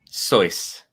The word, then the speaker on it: Seuss: Seuss actually pronounced his name no boy oh boy Wow choice choice yeah yeah in its native tongue I